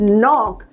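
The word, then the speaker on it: knock: ठक that is called नॉक right so again के और एन से शुरू हो रहा है तो हमने के को साइलेंट रखना है एंड हमें अपना वर्ड प्रोनाउंस करना है ये यस नाउ लेट्स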